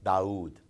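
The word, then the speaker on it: Dawud: But when we pronounce the same name in Arabic, it's Daoud. It's not Daoud, it's Daoud. So that is dal, and then we have zal.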